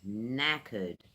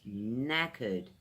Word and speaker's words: knackered: It's knackered the spelling's a little weird. You don't pronounce the "k" at the front so that's knackered two syllables knackered what knackered means it means you're really tired.